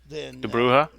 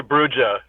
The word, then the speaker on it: Brujah: being independent and the brouhaha I still say brujah I'm supposed to say like that because I believe that's the correct way to say it ever since I know